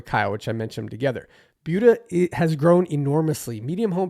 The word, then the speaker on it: Buda: So can't not talk about Buda, which is pronounced Buda, not Buddha, which trips up a lot of newcomers and even me sometimes.